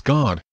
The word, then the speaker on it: Gad: means fortune of yahuwah but god is pronounced as god as clued by the nikku dot system gat is the seventh